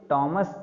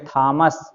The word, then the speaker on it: Thomas: इनका उच्चारण भी देख लो भाई, टॉमस मैं कह रहा हूँ। ज़्यादातर विद्वान ऐसे मिलेंगे तुम्हें जो कहेंगे थॉमस अल्वा एडिसन, तो थॉमस अल्वा एडिसन नहीं है, टॉमस अल्वा एडिसन।